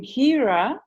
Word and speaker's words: Hira: and it came as the name Hira, like Hira. Hira, Hira. But Yeah. then, since the beginning of this year, I was guided. I mean, it just came through that it was Hira.